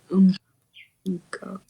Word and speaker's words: እንካ: 50 ብር ነው። እሺ እንካ Is an unka. N is Unka. N is silent here.